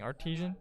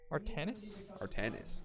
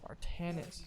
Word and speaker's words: Artanis: I've been saying Artesian, but I've been notified that is actually Artanis. Artanis.